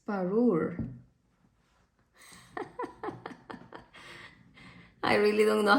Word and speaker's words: Parure: Parude. I said Parude? It's Parure.